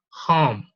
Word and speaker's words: home: So the H is like this one, okay? It is not the J, porque muchas personas en español la pronuncian como la J. It is not, okay? We don't have this glottal sound in English, and it is produced in here, in this part of the glottis.